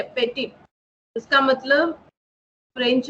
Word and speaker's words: petit: French में इसका spelling है PETIT, ठीक है, पेटिट।